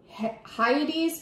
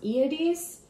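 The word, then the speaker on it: Hyades: another great open cluster named Heidi's but I think it's pronounced iities this constellation is among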